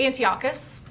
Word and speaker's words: Antiochus: We probably missed one of the sessions, but Antioch's, how do you pronounce it? Antiochus.